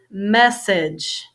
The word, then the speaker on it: message: look similar this one message message first syllable has a stress so on this page